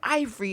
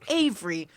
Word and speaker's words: Avery: I'm like, "No, it's not Ivory. It's Avery."